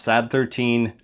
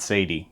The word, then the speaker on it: Sad 13: I double checked and it is pronounced Sad 13, not Sadie.